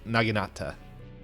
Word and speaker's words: naginata: ago oh Knight told us it's a n naginata that was close the first time I know